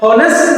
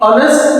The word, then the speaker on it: honest: හැබැයි මේක silent letter එකක්. අර E අකුර වගේ silent letter එකක්. ඒ කියන්නේ මේක pronounce වෙන්නේ නැහැ. එතකොට අපි කියන්නේ honest man කියලා නෙමෙයි honest man කියලා කියන්නේ. ඕ කියනකොට අර ස්වර ශබ්දයක් නේද? දොඩහැන් එක ඕ ශබ්දෙ තියෙන්නේ.